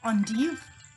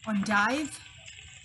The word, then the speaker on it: endive: So in French, we call it endive. In England, we call it endive.